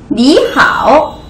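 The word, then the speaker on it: 你好: 인사 가장 흔한 인사로 요렇게 인사했는데 자 지금부터 발음을 잘 들어보세요 1번 하 2번 니하오 자 1번 니하 2번 1번과 2번 중에 어떤게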